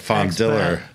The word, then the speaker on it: Fondiller: It's a hard L. It's like Fondiller.